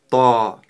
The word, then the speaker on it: ط: Это буква Та. Давайте напишем это ещё раз. Это буква та. Давайте научимся правильно это произносить. «Та-та» — твёрдая буква, поэтому при её произнесении нужно говорить как можно сильнее и твёрже.